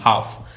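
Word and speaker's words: half: जैसे walk, talk, हाफ। अब इसमें एल है लेकिन साइलेंट है।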